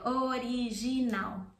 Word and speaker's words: original: O-I-I-A, O-I-I-A, original. And then the L has that U sound, original.